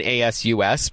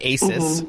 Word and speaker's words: ASUS: I know a lot of people have seen the brand ASUS, but they may pronounce it ASUS, but it is pronounced ASUS, correct?